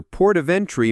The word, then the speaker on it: port of entry: The main stress falls on port and the first syllable of entry.